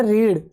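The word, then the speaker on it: read: गया इसके बाद में रीड थड फॉम भी यही होती लेकिन प्रोनाउंस हम इसका रेड करते हैं इसके बाद में वाई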